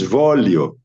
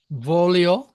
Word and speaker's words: voglio: The, Right, G, because G, the GL is L, just L. Volio, Voglio. There are the other words also with GL, is just L. just L. The Okay. pronunciation is just the L.